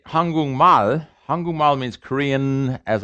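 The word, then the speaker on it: 한국말: changes to an ng the k changes to an ng it's pronounced hangung mal why because this voicing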